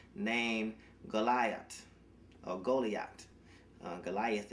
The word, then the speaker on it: Goliath: Goliath a goalie act Goliath is how we pronounce it Americans from the ranks of